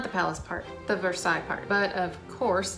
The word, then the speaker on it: Versailles: Not the palace part, the Versailles part. But of course, it's Kentucky, so they don't pronounce it correctly as the French word that it is, which I'll admit has